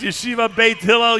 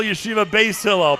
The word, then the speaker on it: Yeshiva Beit Hillel: That's Yeshiva Beit Hillel, Yeshiva Beis Hillel. Pronounce it any way you want.